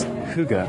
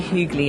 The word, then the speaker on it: hygge: And we're sitting in a cafe now that emblematizes this word, which I will pronounce as hygge.